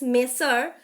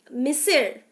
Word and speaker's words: monsieur: So Monissieur is a French word which is pronounced as Monsieur, Monsieur.